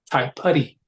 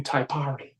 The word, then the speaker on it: Taipari: So Taiputty is spelled Taipari. mm. So when he would go to school, I said, dude, I said, why are you letting these kids call you Taipari?